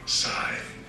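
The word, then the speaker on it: Scythe: Sythe.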